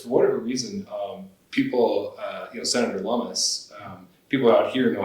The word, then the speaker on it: Lummis: They always say Loomis. Yeah. And so it was like a constant, I was working for her, and it was a constant battle of like saying that rhymes with hummus.